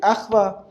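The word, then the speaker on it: אחווה: Achva, sometimes in Hebrew, to make sure that you know that it's a consonant and not a vowel, we double the Vav. Achva, it's just a way to make sure that you should pronounce the V sound, the consonant.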